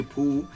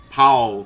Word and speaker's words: Paul: say this character's name i say pool but it's meant i know what americans say powell phoenix powell all right